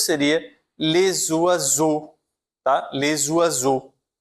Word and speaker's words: oiseau: Les oiseaux. O oiseau com o X que eu não vou pronunciar, certo?